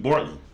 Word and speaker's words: Bortlen: YNW Bortlen. That's how you say his name.